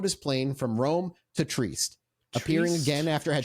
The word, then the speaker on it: Trieste: That day, a flight from, I'm going to butcher the name, is Trieste? How would you boys say the name of that city? Trieste. Okay. Trieste? Trieste. Yeah, I'll say either one.